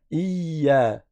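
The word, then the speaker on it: إيا: ils appuient trop fort, ils vont dire il y vous entendez ce bruit, il y a pas besoin de faire ce bruit. On dit iya. C'est vrai que tu restes appuyé sur la lettre ya parce qu'il y a une shad. C'est comme s'il y avait un ya avec scoun suivi d'un ya avec fatha. Ça donne iya iya.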